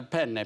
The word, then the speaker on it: penne: In Italian, it's very important that you pronounce a double consonant. There are two N's in the word. So you say it... How do you say it properly? Penne. Penne. So you've got bigger N's.